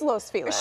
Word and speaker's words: Los Feliz: Because, and I get what she's saying, it is Los Feliz.